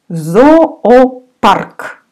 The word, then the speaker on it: Зоопарк: Зоопарк. We say again with A. Зоопарк. All vowels here will be A.